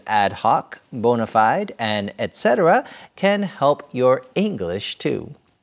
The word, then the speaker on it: et cetera: ETC, etc. is pronounced etc.